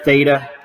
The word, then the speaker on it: theta: okay this symbol is just a Greek letter Theta um yeah it's just a Greek letter it's pronounced Theta and it represents the angle measurement